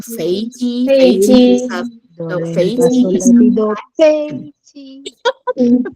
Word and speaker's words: 飞机: How do you say planes? Because all of you have heard it correctly. 飞机，飞机， Oh no. 飞机， No. First tone. 飞机.